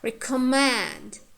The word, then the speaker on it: recommend: Recommend, recommend, recommend. So we have full vowel and consonants, yeah, at the end. So therefore, the third syllable is stressed.